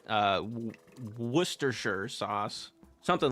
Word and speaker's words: Worcester: Yeah, it looks like it's pronounced like Warchester sauce or something like that.